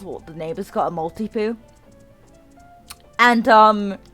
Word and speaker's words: Maltipoo: the neighbor's got a malty poo and um which i know that sounds like like multi like multiple but it's like multi is like a maltese that's where the multi